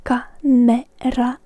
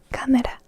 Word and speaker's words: kamera: It is kamera in Finnish, where we place the C with a K, and we pronounce it in a Finnish manner. So kamera, camera.